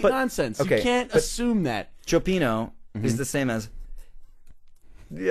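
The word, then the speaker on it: cioppino: seafood soup fish soup it's spelled c i o p p i n o it's not copino it's Chino so you're saying because fish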